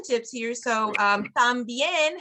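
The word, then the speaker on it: también: tips here so um tambien has an accent mark so whenever you see an accent mark on a word in Spanish when you're reading that's where you put the emphasis that kind of helps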